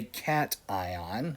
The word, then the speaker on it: cation: a plus is a cat ion as how just pronounced so it's pronounced cat and then ion and Cl minus is